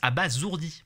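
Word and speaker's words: abasourdi: Et si vous êtes comme moi, déjà abazourdi par la bêtise de ce qu'on est en train de vous raconter, accrochez-vous à vos pentacours. Ce qui suit est monstrueux et oui, ça se prononce à bas zourdi.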